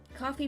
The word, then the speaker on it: Ko-fi: I finally got my coffee page set up her Kofi or it's pronounced I think it's coffee cuz it's like a pun whatever and then my